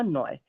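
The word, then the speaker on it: neu: यू कैसे pronounce होगा? ओय से। तो ये हो जाएगा नॉय।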